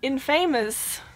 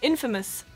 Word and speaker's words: infamous: A lot of Germans will say infamous, which is fair enough. I mean, that's what it looks like, right? Infamous, but it's actually infamous for a reason that